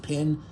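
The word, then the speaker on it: Pyun: uh I think his name is pin you pronounce it pin um it's by far my favorite film of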